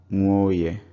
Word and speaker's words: Nwoye: Same with Nwoye. is two words, nwa and oye. So when they are said together, one of the vowels drops out, it becomes nwoye.